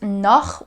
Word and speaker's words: noch: In the word noch, we have this very harsh sound, which is pronounced in the back of your throat.